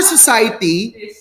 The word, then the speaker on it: society: on the first syllable as for society it's fine society the stress is not on the first syllable but what about unity